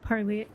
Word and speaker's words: Parley: Um you're wearing the shirt of Parlay, how do you say it?